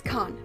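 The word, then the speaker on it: Cannes: to pronounce it and it's con not can or canis but to me con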